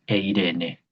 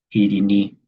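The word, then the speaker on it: εἰρήνη: Entonces, eh si uno escucha la palabra paz en coiné, pero pronunciada hacia atrás, digamos, pensando en el griego clásico, va a escuchar eirene. Sí. Y si la escucha en el griego clásico, en el griego coiné, pero con la pronunciación más cercana al griego moderno, va a escuchar irí.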